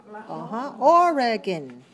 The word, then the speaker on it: Oregon: Oregon.